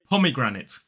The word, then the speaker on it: pomegranate: so here it is pomegranate four syllables the main stress falls on the first syllable and there is a lesser stress on the third syllable so it is